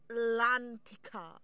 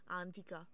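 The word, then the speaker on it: L'Antica: coming up pit huh lantia antia my bad the L is silent antia oh yeah this music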